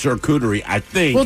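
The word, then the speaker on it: charcuterie: It's not cute. It's shakuterie. Yeah. How else do people say it? Shutoerie.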